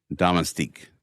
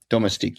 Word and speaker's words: domestique: So, I had a hard time pronouncing in the last couple episodes Damastik, right? Domestique.